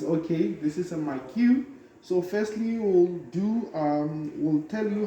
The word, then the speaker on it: Maquet: We'll show a Maquet, others call it Maquet based on the pronunciation, Yes. but it's okay. This is a Maquet.